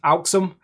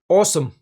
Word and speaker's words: Alxum: Now, they did make a point of saying in their email that it's not pronounced Alxum, it's pronounced awesome.